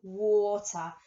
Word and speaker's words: water: Water. Sounds like it should have an or sound in it, but it's not.